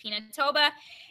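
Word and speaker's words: Pinatubo: volcano disaster assistance program and now there's mount pinatoba i know it looks funny but it's pronounced pinatoba and it's in the philippines and everyone just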